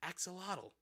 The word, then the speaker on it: axolotl: Axolotl.